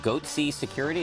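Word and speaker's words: Goatse Security: They're called Goatsy Security. Is that my pronouncing that correctly?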